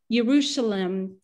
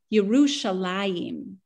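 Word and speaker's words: ירושלים: And in fact, Yerushalem isn't how you say it in Hebrew. The way you say Jerusalem in Hebrew is Yerushalayim, which means that there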